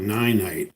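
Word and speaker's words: Ninite: time if you go to a site called nine night it's spelled ni n ite dot-com alright my first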